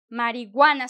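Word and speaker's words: marihuana: Now we going to say marijuana. Some people say marijuana actually, but you know um it's written marijuana. So you don't really pronounce the h.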